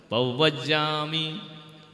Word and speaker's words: पवज्जामि: पवज्जामि, बा बकरी का नहीं बोलना है, वजन वन वाला।